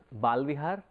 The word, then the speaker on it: Bala Vihar: So, if we understand the word itself as it has been coined, as it has been named, it is Bala Vihar.